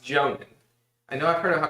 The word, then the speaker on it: Jounin: It is pronounced Jounin.